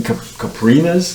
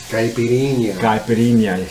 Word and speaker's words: caipirinha: They're making caprinas. Isn't that how you pronounce it? Caprina. Caipirinha. Excuse me, no hablo portugués.